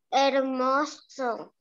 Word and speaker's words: hermoso: La H es muda. Solo pronunciamos la vocal E y la letra R. R. Ajá. Pro. Hermo. Hermoso.